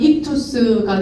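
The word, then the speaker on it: ἰχθύς: 지어 집어 넣은 것입니다 바로 이것을 발음하면 이투스가 되는데요 그렇다면이 단어들의 뜻이 무엇일까요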